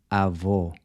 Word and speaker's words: avô: So the closed O is pronounced O, kind of like the O in cold, except you cut it short. O, as in avô, grandfather.